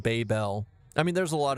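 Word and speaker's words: Babybel: Why would they Why would they spell it B- A B Y B L and pronounce it baby bell?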